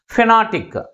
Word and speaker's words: phonetic: In this word also we have 3 syllables. But which syllable is pronounced with a greater force? Second syllable is pronounced with a greater force comparing with other syllables. And also this word ends with IC suffix. That's why the primary stress is on the second syllable from the last.